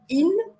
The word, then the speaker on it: yin: Mais le yin-yang, alors on dit normalement in, comme s'il n'y avait pas de y, in, et yang.